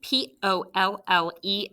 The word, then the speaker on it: pollen: okay so on the top of page 73 you should be spelling p-o-l-l-e-n for pollen and market scoop paul lynn and mark closed closed practice that schwa symbol above that unexpected